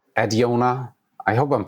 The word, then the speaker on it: Adiona: I also always recommend people to just pronounce it like they have a fake Italian accent. It usually gets people to uh to have some fun with the name Adiona.